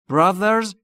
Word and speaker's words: brothers: برادر باید دقت بکنید تقریباً مثل تی اچ در سه اما زبونتون زیر نیش دندون بالا سعی میکنید بگید ز ز ز ز ز ز زنبور میشه برادر براز یعنی برادران جک براز جک سه برادر دارد.